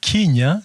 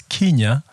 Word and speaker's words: Kenya: So those who spell or pronounce it as Kenya are probably reflecting the more common usage of KE. So instead of Kenya, they say Kenya.